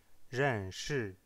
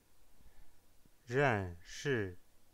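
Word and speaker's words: 认识: Ren shi, ren shi. C'est 2 fois le ton numéro 4, le ton descendant. Ren shi, ren shi. Donc la voix va de l'aigu jusqu'au grave.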